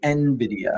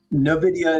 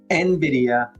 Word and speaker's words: Nvidia: Um, the correct way to pronounce it is actually Nvidia. Yeah, here it is. Novidia is incorrect. Nvidia.